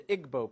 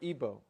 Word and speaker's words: Igbo: Nigeria you have the Igbo people or ebo pronounced either way there's 40 million of